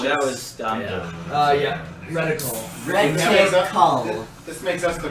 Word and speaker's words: reticle: I'm sorry, give me the pronunciation again. Reticle. Reticle.